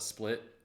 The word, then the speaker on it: Split: if I called it split to an local I you know be committing some crime yeah uh but no it's pronounced split just like it's spelled and Croatia was one